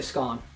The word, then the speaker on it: scone: Or it was like, "Oh, what does the word scone round with rhyme with? Does it rhyme with bone or does it rhyme with gone?"